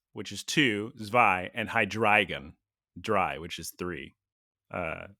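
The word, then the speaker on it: Hydreigon: one head zvilus which is two zvi and hydragon dry which is three uh so it's like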